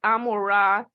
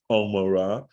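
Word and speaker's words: עמורה: So it could be, Lauren, that the way an ayin is pronounced is down in the throat, like Omorah.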